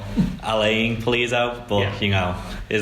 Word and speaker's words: Alan Pulido: Yeah, Alan Pulido. I think he pronounces it more Alain Pulido, but you know, is how it is.